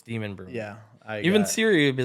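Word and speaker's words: Demonbreun: It looks like that's how it's spelled, but everybody pronounces it Demumbrian, but it's Demon Brewing.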